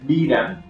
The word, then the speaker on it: DRAM: memory the abbreviated term is sram the dram pronounced as dram is widely used as a computer main memory